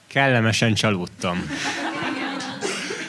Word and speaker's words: Kellemesen csalódtam: Kellemesen csalódtam.